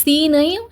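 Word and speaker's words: سين: சி சீன் அப்படி இல்லன்னா குக்கர்ல இருந்து விசில் வரும்ல இல்லன்னா அந்த பாம்பு இந்த மாதிரி கத்துன்னு சொல்லுவாங்க சோ அந்த மாதிரி சவுண்ட்ஸ்லாம் ஞாபகம் வச்சுக்கங்க ஓகே சீன் ஓகே இந்த மாதிரி ஞாபகம் வச்சுக்கிருங்க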